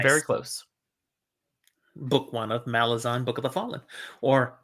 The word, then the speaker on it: Malazan: the Fallen depending on how you like to pronounce it says that that's how Stephen Ericson says it the author says Malazan that was his intent I know it's hard